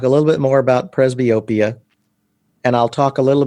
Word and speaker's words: presbyopia: we're about to talk about, or what is presbyopia?